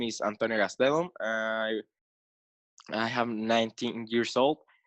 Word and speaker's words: Gastelum: you pronounce it better than the people from Mexico. Oh. People from Mexico call it Gastelam. Okay. But first of all, my full name is Antonio Gastelum.